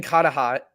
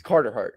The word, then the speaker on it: Carter Hart: But trading Cahtah might just be like Carter Hart. Sorry. I literally never say his name right. It's Carter Hart.